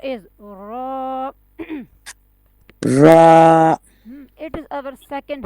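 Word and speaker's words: ر: yeah, heavy letter have which sound? Yeah, it has an ow sound.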